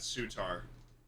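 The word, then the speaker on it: Souttar: but sure so Chad it's not sutar right it's Suitor I'm Landon's not here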